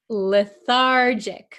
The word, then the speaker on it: lethargic: you pronounce this word lethargic remember this is a JJ sound lethargic Okay the patient